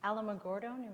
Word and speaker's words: Alamogordo: she was born in my how do you pronounce that Cindy Alamogordo Alamogordo New Mexico how many people live there